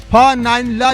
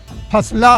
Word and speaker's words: फसला: जैसा कि मैंने पहले बताया, इस ट्रैक का टाइटल किसी कोड जैसा लगता है जिसे अंग्रेजी में फा9 ला लिखा जा रहा है, लेकिन इसका सही प्रोनाउंसिएशन फसला है और इसका लिटरल मतलब होता है मस्ती का वक्त या धमाल का टाइम।